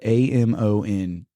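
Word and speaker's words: Amontons: And his name, he was a French man, and his name, I looked at it, it's spelled Amonton, but it gives you in the parentheses how to pronounce it, and it's quite literally a monton.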